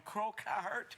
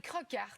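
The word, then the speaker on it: Crokaert: Écoute, c'est comme Crocart. C'est Crocart, finalement. Crocart. Lara Crocart.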